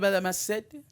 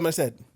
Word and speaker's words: Merced: played by Isabella Merced let's check on the pronunciation on that and I'm Isabella Mercier Isabella Merced it's hot girl so that's what we got